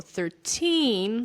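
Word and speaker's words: thirteen: The same goes for 13, so the stress falls on teen for this one, and 30, and the stress falls on the first syllable here.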